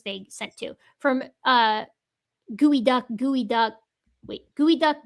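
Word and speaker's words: geoduck: sent two from uh gooey duck gooey duck. Wait, gooey duck gooey science. That's how you're supposed to pronounce geod duck.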